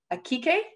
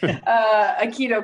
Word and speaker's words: Aikido: So Aaron is sensei for Calgary Akikai. Did I say Akikai? That? Akikai, darn it, sorry, Aikido Club.